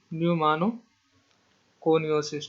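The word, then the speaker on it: pneumoconiosis: ठीक है, ठीक है, पी से इसके स्पेलिंग शुरू है, बट न्यूमानो कोनियोसिस, ठीक, ठीक, ठीक, न्यूमानो कोनियोसिस, ठीक है।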